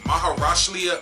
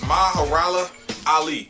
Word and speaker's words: Mahershala Ali: Oh, Maharashlia. Oh, good God. His name is Mahershala Ali. Not Muhammad Ali.